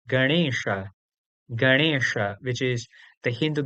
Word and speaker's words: Ganesha: So, to give you an example, the word Ganesha is not having that usual N in it. Indeed, it has this rna at the place of N. So, correctly, it is not Ganesha, but rather Ganesha.